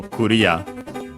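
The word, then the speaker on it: クリア: Uh in video games the accent is just like in English. So very clear uh and so Korea low high low.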